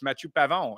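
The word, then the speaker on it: Matthieu Pavon: right right that's how that's how you say it it's matu pavon and if you look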